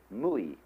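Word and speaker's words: 無為: In Japanese, Mui. I is Japanese of pronouncing the Chinese Wei. Mu is Chinese Wu. Mui, as distinct from Ui.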